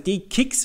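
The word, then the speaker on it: DE-CIX: You are directly on the DCIX, or D-Kicks, as it should be pronounced. I still say DCIX, sorry.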